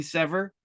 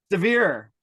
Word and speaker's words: Sevier: yes I did so said your name sever it's severe oh my bad sorry